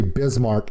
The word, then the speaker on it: Bismarck: starting with the fact they don't know how to say bismarck and the mysterious r comes in and i don't know why she was built in secret